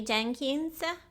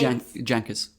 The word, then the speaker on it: Jankis: my opinion, is Sammy Jenkins. It's Jankis. Jenkins. No N at the end.